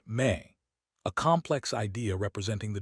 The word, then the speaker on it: me: The mainstream historical fact that anchors this speculative voyage is the Sumerian concept of me, pronounced may, a complex idea representing the divine decrees.